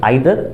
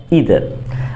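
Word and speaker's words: either: I didn't see यू आइदर, और यू can pronounce it ईदर, क्योंकि इसका दोनों प्रोनाउंसिएशन सही है, दैट इज आइदर और ईदर।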